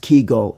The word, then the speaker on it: Kegel: We are talking about Kegel, pronounced Kegel exercises.